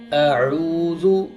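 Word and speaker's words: أعوذ: जिस तरह अऊज़ु, इसको हम बाज़ औक़ात पढ़ देते हैं अऊज़ु, ये गलत है, हमज़ा अलग है और आइन की प्रोनाउंसिएशन, उसकी अदायगी का तरीका अलग है। तो हम कैसे पढ़ेंगे? अऊज़ु, अऊज़ु, अऊज़ु। आइन को गले के दरमियान से और हमज़ा को जो है वो गले के आखिरी हिस्से से अदा करेंगे।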